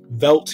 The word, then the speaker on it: veldt: found in africa and there's two spellings of velt he chose v-e-l-d-t as opposed to just v-e-l-d because he wanted to rhyme with pelt corpses are scattered through